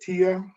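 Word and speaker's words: Tiye: It's Tia, but I say Lady T but it's Tia. Yeah, it's spelled T-I-Y-E.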